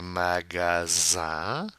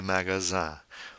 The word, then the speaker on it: magasins: Then we have faire les magasins. Now notice the INS, the nasal sound. The S is silent.